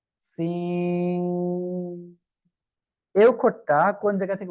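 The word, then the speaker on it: سين: জিহ্বার আগা, সামনের নিচের 2 দাঁতের পেট ও আগার সঙ্গে লাগিয়ে এরকম একটা আওয়াজ হয়ে এটা উচ্চারণ করতে হবে। Scene, scene.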